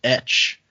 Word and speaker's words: Etsch: First email is from, I'm going to say this is pronounced Etch. It's ETSCH.